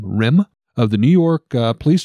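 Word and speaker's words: Rihm: Rim, I believe is how you would pronounce his last name. It's R-I-H-M, Rim, of the New York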